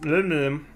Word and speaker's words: molybdenum: So then if we look at molybdenum, that's how you pronounce it, molybdenum, you can break down polonium, acetate, or bismuth.